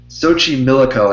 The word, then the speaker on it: Xochimilco: Xochimilco, I think, is how you say it.